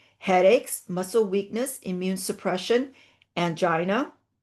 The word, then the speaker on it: angina: muscle weakness, immune suppression, angina or anga, some people pronounce it that way, hair loss and depression.